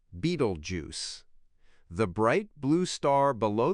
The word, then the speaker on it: Betelgeuse: The bright red star above the belt denotes his armpit and is called Betelgeuse, pronounced Beetlejuice.